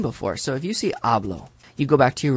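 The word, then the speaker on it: hablo: so if you see ablo you go back to your rule it ends in an O which means our tonic syllable is the second to the last so it would be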